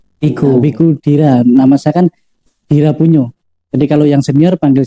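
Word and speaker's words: Dhirapuñño: Nah ya, Dira Punyo. Kemarin saya sempat mikir. Ini Dira Puno, Dira Puno. Dira Punyo. Jadi di situ ada Dira PUN double N kemudian ada garis di atas itu bacanya NY. Punyo.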